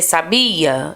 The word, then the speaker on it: sabia: Você sabia? Esse bi é mais forte, tá?